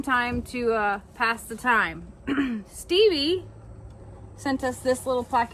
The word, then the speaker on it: Stevie: From Stevie Lynn, pronounced like Stevie Nicks and her family.